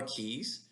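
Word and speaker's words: cay: There's smaller keys. If you're in the Bahamas, key is spelled with a C-A-Y, but it's still pronounced key, an island.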